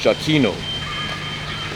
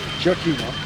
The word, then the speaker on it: Giacchino: So yeah, so for it says so for the composer Michael, his last name is pronounced Giacchino. Giacchino, you see with a J sound, so that's a soft J.